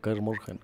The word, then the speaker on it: Kaer Morhen: Caer morhen se pronuncia. Caer morhen.